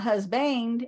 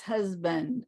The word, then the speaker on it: husband: it's husband uh husband so here it's more like a schwa husband usually this unstressed syllabus so it's husband ninety percent of our two syllable nouns are stressed on the first syllable which means it's la